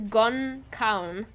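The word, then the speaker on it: gan ceann: And it is actually Irish for no head, which translates to no crown, which is gon caun, like crown. So it's gon caun is how it's pronounced in Irish, which is what it literally means, no head.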